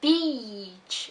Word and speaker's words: beach: So notice that beach is long and bitch is short.